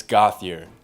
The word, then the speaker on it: Gauthier: Yeah, it's Gauthier. It's, no French or there's no, fancy way to say it. It's like Gauthier.